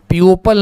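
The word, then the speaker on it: people: तो जो लोग थे पीपल का मतलब लोग ये पपल नहीं है। ये पीपल है। हां इसको पीपल पढ़ते हैं।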